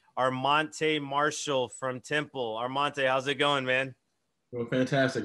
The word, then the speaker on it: Armante: all right cool you ready yes sir and armante right that's how you pronounce it all right what's going on everybody